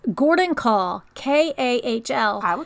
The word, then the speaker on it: Kahl: go all right so I'm pronouncing his name as in call okay because it's Gordon call ka HL have a